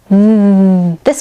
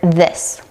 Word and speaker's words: this: Let's practice with the word this. This This Let's see what this looks like zoomed in. This Many times I'll hear non-native speakers replace the voice th sound with a duh sound.